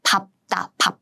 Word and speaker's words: 밟다: So that's why I say 밥다. If we start with a vowel on this side, then it should be 밟은, 밟아. So the pronunciation changes. But if this second syllable has 자음 consonant, then you have to pronounce using this second 받침 sound, as in 밥다.